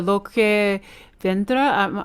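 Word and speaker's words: Lo que vendrá: Like for example, I love the Loque Vendra. Am I pronouncing correctly?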